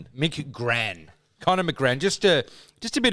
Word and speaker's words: McGran: Mick Gran.